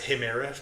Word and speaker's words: Chimera: I thought, you know, goes nicely with Chime with Club Chimera until I went to Greece and found out that they pronounce a himira.